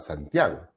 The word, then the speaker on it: Santiago: se dan cuenta ustedes no se dicen sal santiago porque ya esta palabra este nombre santiago es un nombre compuesto ya saint jakob